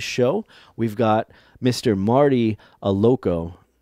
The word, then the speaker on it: Allocco: Marty Allocco. Allocco. There we go. There you go. I know I should have verified the pronunciation before we got started here.